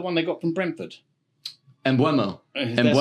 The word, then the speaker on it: Mbeumo: Mbeumo. That's how you pronounce it.